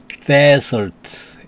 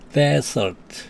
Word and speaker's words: desert: S가 하나만 들어가면 desert 이렇게 발음하면서 사막이라는 뜻입니다. 다시요. S가 두 개 들어가면 dessert 그 다음에 S가 하나만 들어가면 desert 그래가지고 사막이라는 뜻입니다.